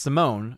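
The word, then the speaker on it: S1m0ne: Harwick, Simon, pronounced Simone, okay, is 2002 science fiction comedy starring Al Pacino.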